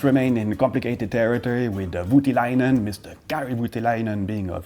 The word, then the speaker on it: Voutilainen: Voutilainen. Voutilainen. Okay, let's remain in complicated territory with Voutilainen, Mr.